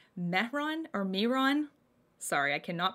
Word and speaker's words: Mehron: have this is the metron metron no there's no t in that mehron or miron sorry i